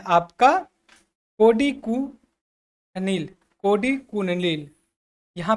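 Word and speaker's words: Kodikunnil: होते हैं, ये होते हैं आपका कोडी कुनिल, कोडी कुनिल। यहाँ पे देखेंगे मैं लिख रहा हूँ, कोडी प्रोनाउंसिएशन करना कैसे, कोडी कुनिल, ठीक है।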